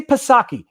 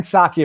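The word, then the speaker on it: Psaki: talking about jen and i'm gonna say pasaki it's pasaki for the rest of my life on the internet it's gen saki apparently it's a silent p but i like pasaki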